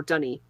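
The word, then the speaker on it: D'ni: mist they have trapped him in Deni or Dy as it's pronounced in the game uh where the green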